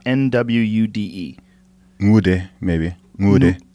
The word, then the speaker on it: Nwude: It's an N, but the pronunciation's a little bit different. Say it again. Nwude. It sounds to me like you're saying Mude.